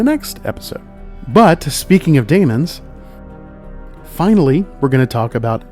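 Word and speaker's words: daemons: mostly by Matthew as demons in the show and that is incorrect pronunciation it is Damon's Dae M ons they are spelled that way for a reason because they are not demons that is something different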